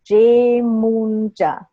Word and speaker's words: Yemoonyah: But the last name is Yemoonyah.